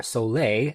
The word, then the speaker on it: Souler: It is the Solar, or Soleil, would be the French pronunciation, AI live speaker.